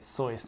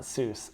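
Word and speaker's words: Seuss: sois and that's how you say it sois not soos I know Tector sois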